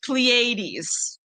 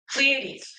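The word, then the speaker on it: Pleiades: And um Rhonda says Plleades. Oh, that's how you pronounce it. Plleades.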